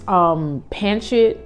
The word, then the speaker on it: pancit: You could do like, I get these pancit. That's how you say it, pancit noodles from the Asian market.